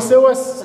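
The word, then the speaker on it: psoas: مع ان واحد يقول لي سوس اولها بي بس ما تتنطقش، سوس ماينور، وعضله اسمها بيريميدالس.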